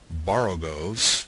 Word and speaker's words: borogoves: Again, the first O in borogoves is pronounced like the O in borrow. I have heard people try to give it the sound of the O in worry.